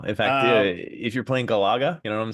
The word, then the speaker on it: Galaga: How do you know how it's pronounced? Galaga. Galaga. I don't know. It's Galaga, you freak.